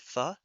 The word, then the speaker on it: pho: And I I didn't know that, but I'm not surprised because the food, which is pronounced fu, is spelled pho.